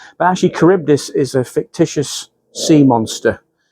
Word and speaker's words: Charybdis: I know how to say it now because I was calling it Charlie Boys, whatever it calls. But actually, Charybdis is a fictitious sea monster.